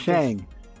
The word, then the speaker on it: Shang: again, they took out, I want to say Shank so badly. I don't know why. His name is Shang.